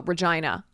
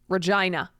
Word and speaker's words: Regina: of Regina Foundation FY it's pronounced like oh Regina Regina uh didn't do their